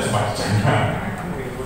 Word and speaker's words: Sumardijana: Kalau semula tulisan saya Sumardiono, tapi 3 tahun terakhir menjadi Sumardi Jana. Anak-anak bacanya Sumardi Jana.